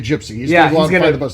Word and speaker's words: Jypsi: a whiskey here called Gypsy now it's spelled j-y-p-s-i and I guess it sounds like Darren based on the name it's kind of strategic